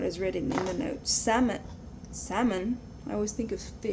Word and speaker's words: Salmon: Salmon. Salmon. I always think of fish. Salmon fish. Don't ask. That's salmon. Salmon, but I pronounce it salmon without the L.